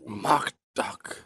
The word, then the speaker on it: Mock Duck: named mock duck oh mock duck love that name did you double is that actually how it's pronounced that is how it's